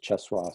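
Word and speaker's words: Czesław: this is called incantation um uh me wash is spelled m-i-l-o-s-z it's polish you know chess wall same same unusual i'll put it up on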